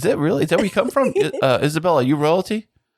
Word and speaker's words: Isabella: It's Isabella, not Isabel. I mean, I feel like that extra syllable is a lot to ask of people, so I'm pretty neutral about it.